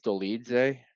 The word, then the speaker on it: Dolidze: I think it's Dolidze or something.